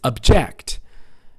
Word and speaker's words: object: the smoke enveloped us nouns on the first syllable verbs on the second this is an object this is an object an object a thing t-h-i-n-g yeah object is very common i will get the object from the shelf right how about the second syllable that's right it's object maybe you've heard this